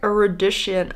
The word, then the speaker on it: erudition: Are all told with landmark erudition.